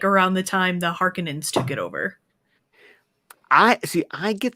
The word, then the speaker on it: Harkonnen: Okay, that's why I feel like everyone calls it Harkonnen, probably because that's how the Lynch movie pronounced it. But we watched that Secrets of Dune video where Herbert was like, "No, it's Harkonnen."